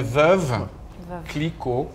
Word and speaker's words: Veuve Clicquot: Então é Veuve, Clicquot, fácil. Faça o biquinho junto, vamos lá.